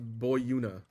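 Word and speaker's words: Boiuna: Um, so it's apparently pronounced Boyuna, so beware.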